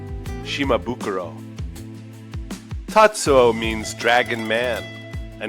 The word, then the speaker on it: Shimabukuro: Japanese pronunciation is Shimabukuro.